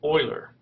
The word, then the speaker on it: Euler: he died in 1783 the name is pronounced however Oiler like the football or the hockey team so what we're looking for for Rita is an Oiler circuit and you've thought